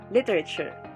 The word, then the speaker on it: literature: under four syllabic words we have literature the syllables are lee rey and sure and the stress is in the first syllable literature next word professional pro